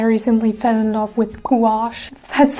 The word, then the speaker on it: gouache: work with I recently fell in love with gouache that's how you pronounce it it's like the love child of